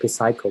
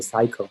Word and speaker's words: psycho: one we don't say psycho we say psycho so p is silent same thing as a